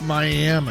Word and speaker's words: Miami: Now, it is spelled like Miami in Florida, but it is pronounced Miami.